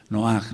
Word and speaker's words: Noaj: el nosotros sa ve pronunciamos mal y lo reconozco noaj no es no con acento en la o él eh No sé